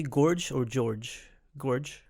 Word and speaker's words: Gorge: Gorge? It's Gorge. Gorge. Now, when you get into that character, what's that? Sorry, a lot of people say George, and I love it when they make that mistake.